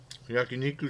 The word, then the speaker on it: yakiniku: eating these I'm pretty good I give the yakiniku that's how you pronounce it yakiniku Santoro got you stuck nine out of ten